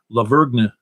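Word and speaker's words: La Vergne: And he is in Laverne, excuse me. You don't pronounce the G.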